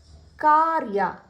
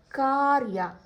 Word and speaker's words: ಕಾರ್ಯ: ಉದಾಹರಣೆಗೆ ಕೆಲವೊಂದು ಪದಗಳನ್ನ ನೋಡೋಣ ಕಾರ್ಯ ಕಾರ್ಯ ಇಲ್ಲಿ ನೀವು ಗಮನಿಸಬೇಕು ಕ ಜೊತೆ ರಕಾರ ಕೇಳ್ತಾ ಇದೆ ಆದರೆ ಬರೆಯುವಾಗ ಒಂದು ಅಕ್ಷರ